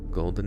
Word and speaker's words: Goldeen: know somebody's getting shot let me see if this is how you say Goldeen golden a Goldeen golden Supply she's a Pokemon that's how you say it in the chat who's